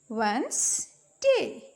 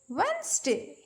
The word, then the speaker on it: Wednesday: अब Wednesday में and silent रहेगा. ठीक है, इसको हम राइट तो करेंगे लेकिन हम प्रोनाउंस नहीं करेंगे. Okay, Wednesday. Wednesday.